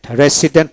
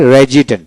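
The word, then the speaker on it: resident: Interval, তারপর রেজিডেন্ট, রেজিডেন্ট, রেসিডেন্ট উচ্চারণ করা হয় কিন্তু ডিকশনারিতে রেজিডেন্ট, রেজিডেন্ট, তারপরে এক্সটেন্ডেড, এক্সটেন্ডেড, এক্সটেন্ডেড না এক্সটেন্ডেড, ডিট উচ্চারিত হয়।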